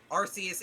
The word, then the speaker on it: Arceus: I do not care how you pronounce it, but Arceus is the grammatically correct way to do it.